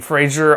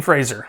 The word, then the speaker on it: Fraser: awards by the way I may pronounce his name Frazier I know it is Fraser it's a common mistake that many people including myself make Brendan Fraser like a razor okay before moving any